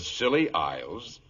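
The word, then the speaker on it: Scilly: off the silly Isles the silly Isles that sounds appropriate doctor the name of these particular islands is spelled s c i l l y they are located roughly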